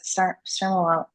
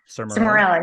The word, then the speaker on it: Sermorelin: Sermorelin. Right, say it Sermorelin. again. Sermorelin.